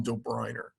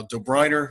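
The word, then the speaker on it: Döbereiner: Johan do Briner um now do Briner you'll notice in the um class notebook uh it's just spelled with an O but uh he's German and so in in the German language uh those O's sometimes have two dots above them it's called an UNL um I actually wasn't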